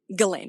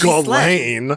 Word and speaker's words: Ghislaine: Diddy or Ghislaine Maxwell. Not the Diddy shout out, not again, no! I also wonder why they keep on saying that Ghislaine Maxwell.